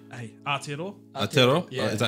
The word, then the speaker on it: Aotearoa: Aotearoa?